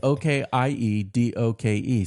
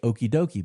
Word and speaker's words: okie doke: okie doke, it's spelled O-K-I-E-D-O-K-E. Some people would read that and say okie dokie, but no, that would just show you're very white.